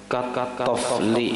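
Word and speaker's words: طفل: Tofli itu bacanya tofli. Kalau tifli ini kekanakan apa aja maksudnya, ada paham, ada hubungannya sini. Tofli itu seperti tanah liat. Nah, tanah liat. Kalau toflun tanah liat, kalau tiflun kekanakan ya artinya.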